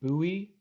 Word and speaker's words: Bowie: And I believe it is pronounced Bowie.